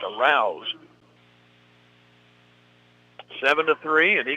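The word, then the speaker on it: Arauz: he's clobbered by arouse his name is spelled a r a u z it's pronounced arouse seven to three and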